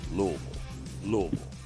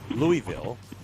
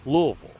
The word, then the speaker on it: Louisville: media enroute to louisville that's how you say it louisville not louisville it's louisville how does the usl